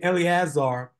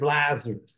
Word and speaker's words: Eleazar: Hebrew so for instance the priest named Eleazar they pronounced it as Lazarus Lazarus so when you see Lazarus that is the Galilean slurring of of of a of proper Hebrew proper Aramaic I mean they